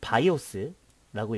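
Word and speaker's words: BIOS: 자, 이것을 바이오스라고 읽고요. 그 다음에 이것을 시모스라고 읽고 이것을 포스트라고 읽습니다.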